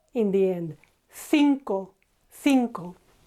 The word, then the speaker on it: cinco: 5, cinco. TH here, cinco, or if you're in South Latin America or you want to sound like them, cinco, just a normal S.